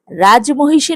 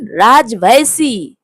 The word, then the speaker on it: রাজমহিষী: বংশীধর বারবার সতর্ক করে দিল, রাজমহীষী নয় কাকাবাবু বলুন রাজভসি আমায় নয় বলুন হামায়।